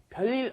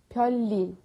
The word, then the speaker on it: 별일: Many people have a tendency to go 별일, but we want to say 별일. Try that. 별일.